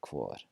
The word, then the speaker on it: hvor: There are some parts of Iceland that will pronounce it slightly differently, but mainstream Icelandic just KV sound, hvað, hver, and hvor.